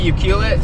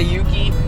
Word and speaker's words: Ucluelet: Guys, we're going to Uklit. I think that's how you say it. Ucl. Some people say Yukullet, some people say Yuki, some people say Yuke till you puke.